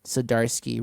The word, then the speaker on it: Zdarsky: name this is ship dart zadarski sidarsky yes siddarski written by cedarski and i gave you blackwood